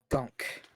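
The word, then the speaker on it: Gonk: of chips pleased to meet you my name's gunk how would you spell that g-o-n-k ah like the droid yeah with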